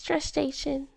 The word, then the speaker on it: gestation: How do you pronounce gestation? Gestation. Oh, gestation. Not there's no R in there.